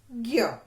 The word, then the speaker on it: ज्ञ: आधा ज और ञ, यानी कि इसका उच्चारण करेंगे तो ज की ध्वनि कम सुनाई देगी और ञ की पूरी।